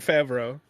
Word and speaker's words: Favreau: No, it's John Favreau. Yeah. I didn't even know that's how you say it.